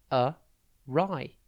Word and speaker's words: awry: coach dot tv today's word is awry it's pronounced a rai and it's spelt a w r y think